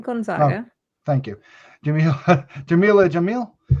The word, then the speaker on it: Gonzaga: mark ruffalo ginger gonzaga or how would you pronounce that vanessa that was right gonzaga thank you jimmy jamila jamil uh steve